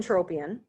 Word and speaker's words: entropion: say both those terms so this is n entropion so Entropia is actually just in word rolling